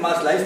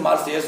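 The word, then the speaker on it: Marseilles: यहाँ जो देखने में ऐसा लग रहा है जैसे मार्सलाइस लिखा हुआ है, लेकिन मार्सलाइस नहीं, इसका करेक्ट प्रोनाउंसिएशन मार्सेयस होता है, इसे आप ध्यान देंगे।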